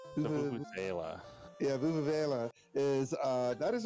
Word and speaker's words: vuvuzela: So the Vuvuz, how's it pronounced? The Vuvuzela.